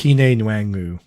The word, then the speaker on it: Kene Nwangwu: I don't even know how to pronounce his name correctly, but Ty I think Chandler. It's Kene Nwangwu.